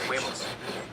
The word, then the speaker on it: huevos: No, it's huevos. It's H. Huevos. Huevos. See, I don't even know how to spell it.